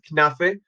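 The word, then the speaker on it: knafeh: Okay, that's how we pronounce it, knafe, which is delicious, delicious thing.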